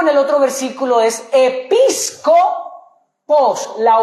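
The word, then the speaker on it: ἐπίσκοπος: Y a luego en el otro versículo es episcopos. La V se pronuncia en el griego como una s. Epíscopos.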